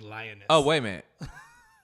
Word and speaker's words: Liones: You're like, Leoness? No, don't make it all French. It's lioness.